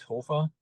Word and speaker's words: Hofer: But to pronounce it the right way, it's Hofer, and it's originally or